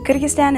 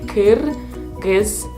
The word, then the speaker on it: Kyrgyzstan: Kyrgyzstan is also surrounded by Tajikistan, Uzbekistan, and Kazakhstan. It's pronounced like Kyrgyzstan. Kyrgyzstan.